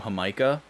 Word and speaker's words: jamaica: I love me some hamikah if you guys have never had hamikah before so so good spelled like Jamaica but you pronounce it h it's a long time